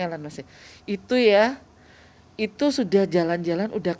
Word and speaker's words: Elon Musk: Ini bacanya Elon Musk ya.